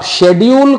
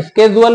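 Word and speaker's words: schedule: अब शेड्यूल को प्रोनाउंसिएशन में स्केजुअल भी बोलते हैं, तो दोनों ध्यान रखिएगा, अंग्रेज मिल जाए तो स्केजुअल, वरना शेड्यूल तो चल ही रहा है।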